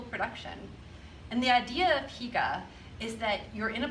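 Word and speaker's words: hygge: about denmark is that they created the term higa what famous movie and stage show have you heard the word hika it's spelled h-y-g-g-e that's right frozen talks about the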